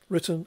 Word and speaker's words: written: So written has a stress, an emphasis on the first syllable, whereas return has an emphasis or stress on the second syllable.